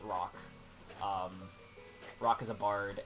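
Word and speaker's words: Roque: and you know uh rock and uh that's spelled r-o-q-u-e by the way not r-o-c-k but it's pronounced rock um rock is a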